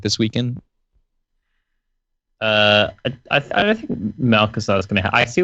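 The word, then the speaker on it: Malchezaar: It's pronounced its ability. That's the thing. Malkazar.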